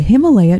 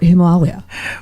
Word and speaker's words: Himalaya: If you read Sanskrit, it's Himalaya. They have a long A vowel and a short A vowel. So in Sanskrit, it would be Himalaya, but because English is so influenced by the Germanic, we have the